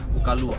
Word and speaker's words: Kaluwa: কালুয়া, KALUWA, কালুয়া। Actually pronunciation is Kalua.